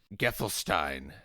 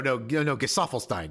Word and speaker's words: Gesaffelstein: Song that I recommended because they've been like Geffelstein. Is it really just Geffelstein? No, Gesaffelstein. You're right. Yeah, it is Gesaffelstein.